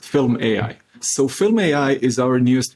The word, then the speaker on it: fylm.ai: Am I pronouncing it correct? Yeah, that's correct. fylm.ai.